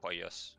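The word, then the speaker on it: Pollos: It's the double L, so it's pronounced Poyos. Poyos.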